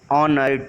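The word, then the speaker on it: honour: अब इसमें देखिए जो ऑनर है, ऑनर का जो H है वो साइलेंट लेटर है और ऑनर किससे? कॉन्सोनेंट से स्टार्ट हुआ है, लेकिन इसकी साउंड कहाँ किससे आ रही है?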